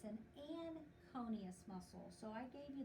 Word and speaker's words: anconeus: we call it a aconeus so we don't even pronounce the n but it is pronounced